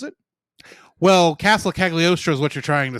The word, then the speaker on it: Cagliostro: animation style from Lupin the Third, Castle of Castiel. How do you pronounce it? Well, Castle Cagliostro is what you're trying to say, Yes.